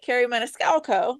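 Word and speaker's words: Kerri Maniscalco: 28th, Carrie Maniscalco.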